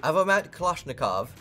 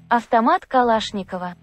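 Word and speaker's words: Автомат Калашникова: otherwise known as the Avomat Kalashnikov, abbreviated down to AK, and I get the feeling our editor's gonna have to put the correct pronunciation for that one as well. Avtomat Kalashnikova.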